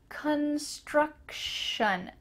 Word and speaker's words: construction: Construction. Again, that sh sound here.